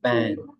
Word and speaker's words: bang: In this case, we don't pronounce this sound. So the difference here is bank, and here bang.